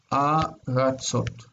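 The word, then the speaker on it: ארצות: Okay, if we think about the syllables, this is near and it's long. And this one's distant, and it's reduced. Aratzot. Aratzot. Okay, aratzot. These are lands. In the singular, I see the first syllable has an accent, but in the plural, the accent's on the last syllable.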